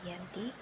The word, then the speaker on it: Giyanti: yaitu di desa Janti dalam pelafalan Belanda tersebut sebagai Yanti dan secara tertulis terbaca sebagai Giyanti tempat tersebut sekarang dikenal